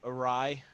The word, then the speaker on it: Uhraii: my uh my name is awry uh you know if you're filipino awry means